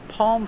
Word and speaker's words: palm: important let's talk about the pronunciation of palm Palm the L is silent that's right now if you ask an American they'll say they pronounce Yale because they move their tongue up to make the l sound but they never touch the roof of their mouth so it's not a real L and you don't really